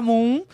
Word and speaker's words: Mumm: E é GH Moon mesmo. O fundador chama George Hermann Moon, um alemão. Então, a pronúncia é do jeito que se escreve no português mesmo.